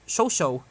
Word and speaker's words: ChouChou: the new niece named Cho Cho pronounced show show show show and starts from